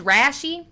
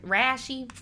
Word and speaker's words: Rashi: this man name is rashi like rashad but rash like like rashy why would you do